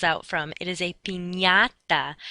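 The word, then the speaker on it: piñata: party is not a panada that's not what the candy falls out from it is a pinata that NY sound sort of like how we pronounce lasagna and why ok the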